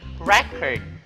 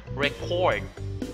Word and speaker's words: record: For example, in the nouns, we say record. In the verb, record.